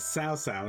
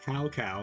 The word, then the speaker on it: Cao Cao: But Zalian, them also remaking it with the original dialogue is hilarious to me, because the guy's name is Cao Cao, not Cow Cow, and yet they, they went back to pronouncing it as Cow Cow.